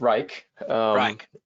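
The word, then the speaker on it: Wrike: us about them yeah but pronounce reich and uh yeah yeah you can keep the e silent um and uh yeah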